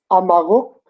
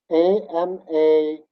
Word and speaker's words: amaguk: Wolves are Amaguk. A-M-A-G-U-K. G. Amaguk. Can you say that again? Amaguk. It's a tongue twister. Amaguk. It Okay. is G. Amaguk. Amaguk. Yeah, perfect.